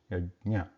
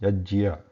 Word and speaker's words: यज्ञ: Again, it is should not be pronounced Yajya, just because it is written like that. They are just the symbols. There is the same pronunciation Yajna.